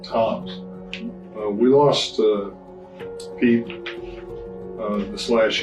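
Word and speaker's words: Tzomes: He spells his name Tzones, but he pronounces it Toms.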